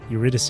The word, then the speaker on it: Eurydice: Yeah, Eurydice. A classic opera returns to the Dionysus Theater after 3 years. Tickets priced at 30,000 doll hairs. I just pronounced it wrong. I pronounced it Eurydice. Eurydice is better.